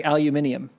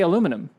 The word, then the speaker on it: aluminium: em but um so they say aluminium right so here we say aluminum right so and here we spell it aluminum right so if you grow up and you live in a world where it's aluminium then it's aluminium to you you still know what